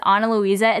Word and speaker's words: Ana Luisa: Again, that's Ana Luisa. It's spelled A-N-A-L-U-I-S-A.